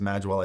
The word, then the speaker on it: Magewell: As for the Magwell, and by the way, I know it's spelled Magewell, it's actually pronounced Magwell. I found that out on a phone call with them a couple years ago, but it's the most expensive with the fewest features.